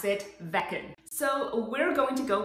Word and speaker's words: Veken: we're reviewing the vegan pet fountain some people pronounce it vegan i looked online and most people pronounce it vekken so we're going to go with vecton well